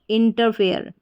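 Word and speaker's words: interfere: आई एन टी ई आर इंटर एफ ई आर E fair इंटरफेयर इंटरफेयर का मतलब होता है दखल देना तो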